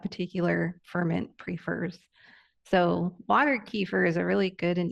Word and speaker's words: kefir: is water I say kefir I know some people say keer what's I say kefir I don't know if I say it right yes I heard keer too great okay so what